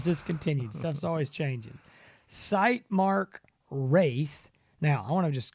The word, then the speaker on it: Wraith: don't see the eye it looks like wrath but it's got an eye in it and it's wraith so a lot of guys call to go i don't know how to say this wraith wrath it's the wraith so we got the